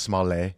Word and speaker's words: Smollett: It's pronounced Smollett. Smollett.